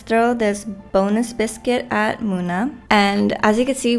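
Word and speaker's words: Munna: I have been pronouncing it Muna because the U kind of throws me off, but I saw people online say it's pronounced Muna, which I guess makes sense, I think. So I'm gonna say Muna.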